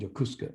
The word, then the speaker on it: Yokosuka: liberty into a port that's called jokuska spelled like yokosuka and that's on kind